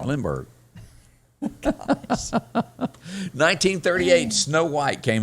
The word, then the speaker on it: Lindbergh: Charles Limbaugh was. Did I pronounce that right?